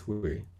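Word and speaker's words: 惠: He substitutes that for another character, which is pronounced exactly the same. It's pronounced Hui. But this one has more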